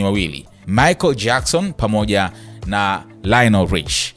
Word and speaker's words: Lionel: Michael Jackson pamoja na Lionel Rich. Bwana wanaitamka Lionel, huku tukisemaga tukimtaja yule Messi basi wote tunasema Lionel Messi, lakini jina la hili linaloandikwa Lionel linatamkwa Lionel. Lionel Rich yeye ndio alikuwa